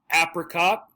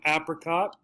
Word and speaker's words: apricot: a the letter a here's our ass sound again so apricot right and apricot or this is a the long a sound apricot apricot and